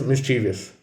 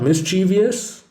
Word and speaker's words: mischievous: the next word is mischievous it is not mischievous the correct pronunciation is mischievous it would be mischievous of me not to point out the frequent misplacement of the accent on this word the next letter is